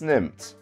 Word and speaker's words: nimmt: week we are playing six nympt or as it should be pronounced in german sex nymph but we're not going to